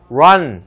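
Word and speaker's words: run: 있지 않습니까 그렇지 않습니다 실제 발음은 러러 출발해서 아로 끝나는 바람이기 때문에 실제로는 도망쳐 일어날 때 런 이렇게 하지 않고 란 이렇게 합니다 그렇다고 지금부터 로안 라한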